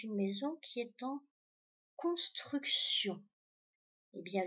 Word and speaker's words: construction: Donc, ça veut dire que c'est une maison qui est en construction. Eh bien, le sion qu'on entend à la fin s'écrit avec TI et puis évidemment ON à la fin.